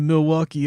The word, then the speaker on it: Milwaukee: Actually, it's pronounced Milwaukee, which is Algonquin for the good land.